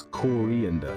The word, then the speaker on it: coriander: It's not coriander, you donkey, it's coriander. 4 syllables, nice and clear, coriander.